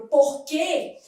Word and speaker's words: porquê: Por exemplo, quando eu pego a palavra porquê, o U não é pronunciado, mas quando eu pego 50, esse U é pronunciado, 50, eu tenho um ditongo, né?